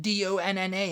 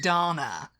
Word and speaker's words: Dana: And I'm like, I am not saying Donna. I am saying Dana. And it's like, her name's not Donna. Call her Dana. And I was like, it's D-A-N-A. That's how you say it, Dana.